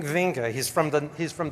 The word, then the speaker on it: Winge: if you've ever heard how to pronounce V's first name it's oing oing vinga he's from the he's